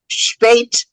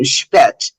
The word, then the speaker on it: spät: Is that, I've heard it, spät and spät. Right, they're both good.